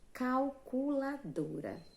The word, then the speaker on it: calculadora: A tia já explicou que a letrinha L, ela tem som de U muitas vezes.